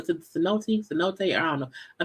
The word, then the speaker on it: cenote: I know the one Storm pronounces C note, which I know is wrong, okay?